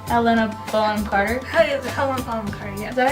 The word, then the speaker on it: Helena Bonham Carter: Helena Bonham Carter, yes. Is that how you pronounce it?